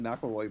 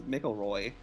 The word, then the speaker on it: McElroy: and me podcast the mcelroy brothers who spelled their name like it's mickel roy but like a linguistic shift happened with the name either the spelling of the pronunciation like that's reality but